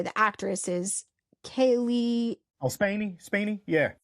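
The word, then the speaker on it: Spaeny: Oh, Spaney, yeah. Spaney.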